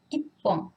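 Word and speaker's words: 一本: Ichi, plus, on ajoute hon. Et la prononciation change. Ippon.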